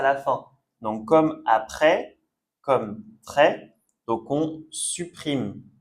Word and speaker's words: après: De la même façon, on ne prononce pas le S. Souvent, quand le S est à la fin du mot, on ne prononce pas. Donc, après.